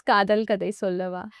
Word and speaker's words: Kadhal Kadai Sollava: But you pronounce it correct. It's Kadal Kadai Sollava.